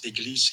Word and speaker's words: église: Yes, I joined because I wanted to tell you how we pronounce église in French. So it's église, Église.